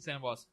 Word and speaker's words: Saint Ambroise: No, it's just Saint Ambroise. Amboise. Saint Ambroise. Amboise. Saint Ambroise. So all right, so Sorry. I've been learning this weekend that you don't roll your R's in French.